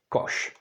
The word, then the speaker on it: koš: words like Shala which is a scarf or Kosh that would be a basket okay let's move on now we have Z that's pronounced the same as for example in the